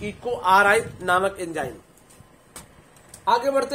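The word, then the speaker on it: EcoRI: इको आर आई पढ़ना है, इको राई नहीं पढ़ना है।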